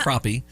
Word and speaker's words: Crappie: And you think about how the fish crappie is spelled. Yep. Yeah. Pronounced like the species of fish, though. Yeah. Crappie.